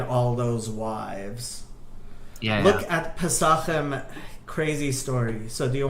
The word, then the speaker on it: Pesachim: Look at Pesachim, crazy story.